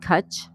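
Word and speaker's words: cwtch: It's pronounced Cut. Okay. Cut.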